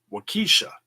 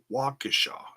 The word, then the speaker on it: Waukesha: the announcers on mlw he pronounces it wykisha it's it's not it's not what Keesha it's Waukesha it's you're mispronouncing the wrong syllable okay so I'm just